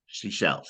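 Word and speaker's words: Seychelles: I've heard I've heard it and then but it's spelled s s y c h l s seash shells seashells yes yeah so yeah it's an archipelago like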